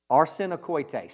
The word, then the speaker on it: arsenokoites: Josh, the word, how you pronounce it? Arsenokoites.